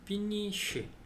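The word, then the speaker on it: finisci: 다음에 또인데 sc를 넣어줘가지고 피니쉬 근데 아까 위에 sco 할 때는 스코어라고 읽고 sci라고 일 때는 쉬라고 읽죠 제가 발음 공부할 때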